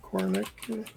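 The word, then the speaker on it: Kořínek: What do you feel about Yaroslav Kornik? Kornik? Czech 18-year-old. Spell it. Korinnek. Oh, Kornick.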